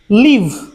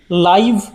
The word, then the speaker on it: live: এবং পরের MINUTE এর উচ্চারণ আমরা করতে পারি মাইনিউট, এর অর্থ হলো সূক্ষ্ম বা পুঙ্খানুপুঙ্খ। LIVE লিভ মানে বসবাস করা, এবং LIVE লাইভ বা সরাসরি।